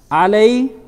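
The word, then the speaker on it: عليكم: Now, if you see the first letter has a vowel, which is eh. Then you have the second letter, eh. Third letter has a sukoon. So this is pronounced e. Alay. Alaykum. The last letter as well has a sukoon. So the same thing. Alaykum. Only the letter itself is coming out without any vowel associated to it.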